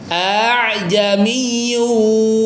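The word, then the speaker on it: ءَأَعْجَمِيٌّ: Jadi sebenarnya ini hamzah hamzah a'jamiun tadinya ya. Tapi mungkin lidahnya orang Arab itu susah ya baca dua Hamzah yang e berdekatan sehingga Hamzah yang keduanya dilembutkan ya. Dilembutkan, dimudahkan bacanya. Dikasih istilah namanya tashhil ya memudahkan.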